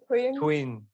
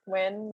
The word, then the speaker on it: Thuyen: So it's actually Thuyen. Thuyen. Okay, I can get Thuyen. Yeah. Thuyen. That's not too bad. Yeah, that's pretty good. And a lot of people mispronounce it as twin.